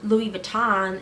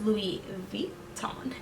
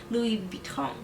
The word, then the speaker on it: Louis Vuitton: And so I wanted to know, how exactly do you pronounce Louis Vuitton? It's not Louis Vuitton, it's a French company. It's Louis Vuitton. Louis Vuitton.